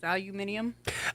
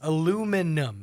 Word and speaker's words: aluminium: Or um aluminum is aluminium. I That one has always bothered me because that's the British thing. Where's the extra in? Like when you look at art, it's aluminum. Aluminum here. How are you adding inum?